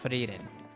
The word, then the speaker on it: Frieren: Frieren. I actually suspected that that's how you pronounce it.